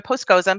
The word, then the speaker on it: Poskozim: v is in victoria p is in postscosim that's how you say my name dr postcozum but please everyone calls